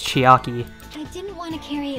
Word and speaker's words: Chiaki: Am I saying her name wrong? They all pronounce her name as Chiaki.